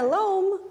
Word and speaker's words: loam: call it loam yeah loam is a funny funny word it rhymes with home but loam is all